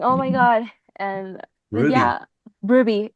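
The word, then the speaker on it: RWBY: I just always called it RW by Y. By No, it's it's I mean it's pronounced Ruby, but at first I also got confused like why are they writing it like that?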